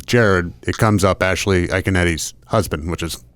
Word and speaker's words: Iaconetti: Iaconetti. That's how he... I would have butchered that pronunciation.